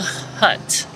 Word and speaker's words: Haute: least once at java hut okay so the name is spelled hut h-a-u-t just like terra hut the city that it's in and i